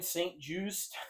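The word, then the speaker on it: St-Juste: Chargers signed Benjamin St. Just.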